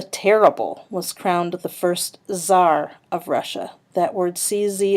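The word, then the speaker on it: czar: and Ivan the Terrible was crowned the first Zar of Russia that word CZ a is pronounced Zar and it's just like a king or Emperor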